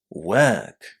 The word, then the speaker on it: work: So what can you hear at the beginning of this word? How were the letters O, R pronounced inside? Surprise, surprise, it was the long again, right?